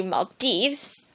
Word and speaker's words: Maldives: um I used to think it was the Maldives maybe I thought it was the dies because um it was an island it's an isation but it's actually Mal Dives and lastly we have this African country to